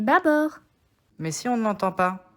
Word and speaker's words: bâbord: le mob à bord on ne dit pas bah board mais bâbord mais si on n'entend